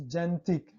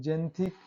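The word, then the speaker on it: xanthic: Rule 4 है, जब किसी शब्द के शुरू में एक्स हो और उसके बाद ए ई आई वाई आए तो एक्स का उच्चारण ज से करते हैं। जैसे जेंथिक, देखिए एक्स है और ए ई वाई आए उसके बाद एक्स के बाद, तब क्या पढ़ें, उसे ज से पढ़ते हैं। जेंथिक, जाइलम, जेरोक्स, देखिए यहाँ पे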